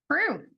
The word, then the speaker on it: Preu: All right, Kansas Helen here, and today we have, is it Prue? Preu. Yep. Good. I've never heard it pronounced, so I wasn't sure.